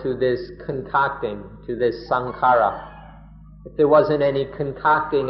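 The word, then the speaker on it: saṅkhāra: in thailand most often sankhara just means the body people's thai people speak of sankhara or sang khan in the thai pronunciation they just mean the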